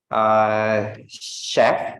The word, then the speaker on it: chef: Dia di sini pengucapannya itu seperti sh, seperti misalnya, oke, di sini chef, jadi ada sh kayak chef, oke.